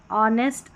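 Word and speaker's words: honest: H silent रहता है। ऑनेस्ट आवर और यहां पर एयर करके पढ़ेंगे।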